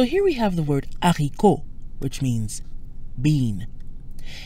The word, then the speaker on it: haricot: Because the H is aspirated, we don't truncate le to L apostrophe.